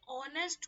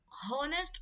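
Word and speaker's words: honest: इसी तरह से ऑनेस्ट बॉय, हॉनेस्ट बॉय नहीं बोलते, हम ऑनेस्ट बॉय बोलते हैं, तो इसमें भी एच साइलेंट है और साउंड हमारा ओ का ही आता है, तो इसलिए हम इससे पहले एन यूज करते हैं।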